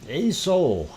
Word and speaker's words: Aso: don't understand why um a soul aso is the way it is spelled and that is a soul sound um and normally we